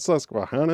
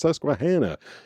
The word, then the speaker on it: Susquehanna: cuz everyone be like it's not Susquehanna it's Susquehanna and then like funny